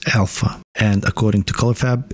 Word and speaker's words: AllPHA: material from color faab filament is pronounced as Alpha and according to color